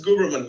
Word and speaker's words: Guberman: Is it Guberman? Is that how you pronounce it? Guberman, yes.